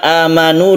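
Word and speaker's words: آمَنُوا: Di sini ada a yang panjang, ini adalah mad badal. Badal artinya ganti. Aslinya ini adalah sukun hamzah. Jadi ada hamzah, disukun hamzah lagi. Amanu. Karena di dalam Al-Quran tidak ada yang berbunyi a, i atau u, karena sudah diganti menjadi mad. Maka membacanya itu kita panjangkan a-nya ini.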